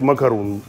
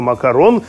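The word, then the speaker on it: macaron: умные, учат английский язык, поэтому надо читать макарун. Поэтому читается макарон, знаете, как эклер.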